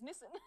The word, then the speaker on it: Nissan: It's Nissan.